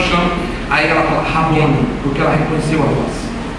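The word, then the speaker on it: Rabboni: chama quando ela o chama aí ela fala rabon porque ela reconheceu a voz e quando ela reconhece a voz ela deixa dear entender que ele é o jardineiro e ela pronuncia rabone ela não está dizendo simplesmente como está na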